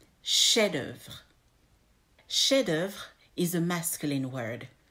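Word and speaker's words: chef-d'œuvre: rule here number four the F at the end of the first word is a silent F remember the rule about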